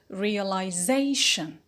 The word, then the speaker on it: realization: take the secondary stress so realization the secondary is on real before we carry on